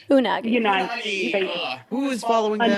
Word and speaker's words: Unagi: The Yagi. Am I saying that right? Unagi.